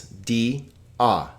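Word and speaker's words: διά: Iota alpha is not. So this is 2 separate syllables. Di-a. Dia.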